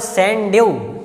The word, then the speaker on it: Sundew: आप लोग संडे नाम से भी याद कर सकते हो, स्पेलिंग थोड़ा सा अंतर है तो इसके माध्यम से आपको भूलेगा भी नहीं।